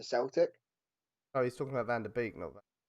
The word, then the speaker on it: Van de Beek: decades i'm real um van der beek is pronounced van der beek i'm happy with vanderbilt